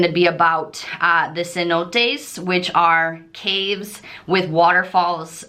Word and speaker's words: cenote: entry into the um cenotes which in English is Sino which we call hundred dollar bills Cenote which is the correct pronunciation in espanol is these waterfall caves